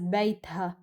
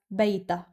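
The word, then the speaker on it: بيتها: In certain Arab regions, it's pronounced as Bayt-ha, but in Lebanon, it's pronounced as Bayta, as if the Ha-sound is omitted.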